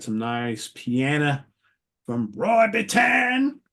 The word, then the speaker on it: Bittan: Everybody always gets down on me when I say his name like that. But hey, don't shoot the messenger. You go see Bruce live. That's how he introduces him. Roy Bittan. Everybody's like, no, you pronounce it Bitten. Well, tell Bruce that, because he's been saying it wrong for decades, right?